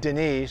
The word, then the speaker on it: Denis: kept the name and it's actually in french it's denis so saint any is